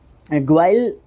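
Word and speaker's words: guile: ग्वाइल, ग्वाइल इसको प्रोनाउंस करना चाहिए, ठीक है।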